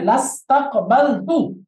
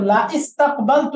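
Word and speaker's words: لَاسْتَقْبَلْتُ: হবে এই যে এই হামজাটা লিখায় থাকবে কিন্তু উচ্চারণ হবে না তাহলে এখন পড়তে হবে লাস্তাকবালতু কারেক্ট ক্লিয়ার বুঝে গেছে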